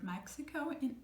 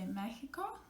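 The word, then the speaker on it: México: Now, another sound it might give you is a kind of like a h sound, because you have seen the spelling of the word Mexico in Spanish.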